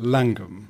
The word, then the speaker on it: Llangwm: Yes, it's spelt with the double L-A-N, so it would be pronounced typically in Welsh as Llan, and that means place.